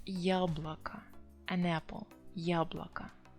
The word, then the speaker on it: яблоко: apple, яблоко, it's feminine because they hear A there, яблоко. But as I said, O unstressed, so it should be A sound that you pronounce.